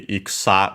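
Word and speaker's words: 戦: Usually when I find the term ikusa, actually it would be iksa with the u, barely heard if at all, accent on the last mora for war, battle, and so on.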